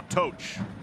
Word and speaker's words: Toch: Adams, now Toch. He's going by Toch this year. We've been saying it wrong for almost a decade.